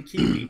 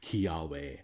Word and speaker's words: Kiawe: Just Lele into Kiwi. Mm-hmm. And I'm saying that wrong on purpose to try to trigger people you. People get so mad at me whenever I say it wrong. Kiawe.